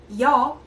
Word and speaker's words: 여: In Korean, we read this letter nya. But for ease of pronunciation, when nya comes very first on the vocab, it pronounces ya instead of nya.